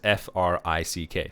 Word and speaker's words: Frick: And so Frick, and, I'm trying not to mispronounce it. It's F-R-I-C-K, so Frick.